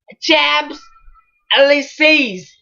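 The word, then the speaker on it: Champs-Élysées: At least how to pronounce this? Champs Elysees.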